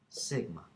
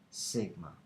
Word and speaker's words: sigma: pronounced it's a greek letter and it's actually pronounced sigma it's actually pronounced sigma okay um so keep that in mind uh